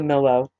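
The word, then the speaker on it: Millo: her house built for her he built the mellow and that's spelled m-i-l-l-o now three times a year solomon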